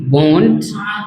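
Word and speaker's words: won't: याद रखना आपका प्रोनाउंसिएशन सही होना चाहिए। एक होता है वांट, आई वोंट, आई वांट, ये वांट है, ये वोंट है, वो कंठ से आवाज निकलेगा, ये मत बोलना बस, ठीक है।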